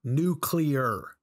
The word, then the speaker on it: nuclear: Also, it's pronounced nuclear.